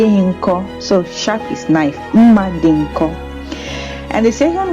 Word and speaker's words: mma: So the very first kitchen utensil is mma, which is knife. Okay, it's pronounced mma.